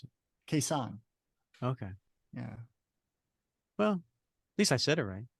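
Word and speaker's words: Khe Sanh: it's Khe s n h how do you pronounce it quesan okay yeah well at least I said it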